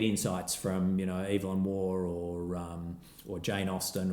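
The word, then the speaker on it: Waugh: can still get insights from you know evil war or um or Jane Austin or or something like that or I might read business books poor Zoe's writing down all these authors I know ion war war how you spell that w a u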